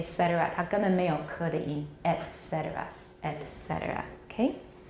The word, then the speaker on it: et cetera: and then say cetera et cetera et cetera okay etc etc etc are pronounced with the glottal stop at the beginning of the vowel okay i say ah